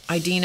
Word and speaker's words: Idina: Idina is spelled I-D-I-N-A. That may not be how she pronounces it, but that's how I pronounce it.